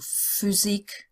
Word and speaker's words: Physik: PH. That's like the F in English, like in the word phrase. So Physik, Paragraph, Alphabet, Phrase.